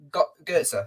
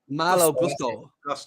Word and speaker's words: Malo Gusto: Is it Goetze? No. What's it called? Malo Gusto.